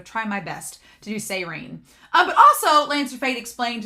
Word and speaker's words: Seirin: It's Seirine. I'm going to do my best. I don't guarantee I'll get it right all the time, but I'm going to try my best to do Seirine.